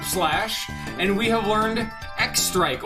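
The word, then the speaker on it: X-Strike: Frog has learned Slurp Slash, and we have learned X Strike, or as it's actually supposed to be pronounced, Cross Strike, but it's X Strike.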